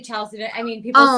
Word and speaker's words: chalcedony: Is that the calcitiny? Is that how you pronounce it? Yeah. Great. Calcitiny. That's perfect, because I was trying to figure that out. A lot of people, you could say chalcedony.